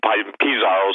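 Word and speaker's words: Pizarro: the conquistadors uh when piezero and pisarro some people pronounce it basically ransacked peru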